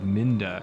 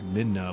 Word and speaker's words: Midna: game, for years, I thought her name was Minda, M-I-N-D-A, and I didn't realize, I think, until my 20s, that it was Midna, like midnight.